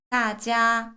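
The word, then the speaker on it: 大家: 뭐라고 할까요 따지라고 합니다 따지아 러분 여기서 떨어지는 의미 있죠 이거는 성이에요 그래서 높은 음에서 떨어뜨려서 읽어 주시면 돼요 그래서 안녕하세요 따지아 성의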